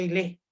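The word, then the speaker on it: ὕλη: Jóvenes, en griego la materia se pronuncia ile, y la forma en griego se pronuncia morfé.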